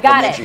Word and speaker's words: Bemidji: Yeah, I wanted to pronounce Bemidji.